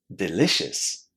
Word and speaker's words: delicious: Lots of students would say, but it's not pronounced like that. Listen. Delicious. Delicious. What did you hear at the end? It wasn't ooh, was it? It was. Very, very short.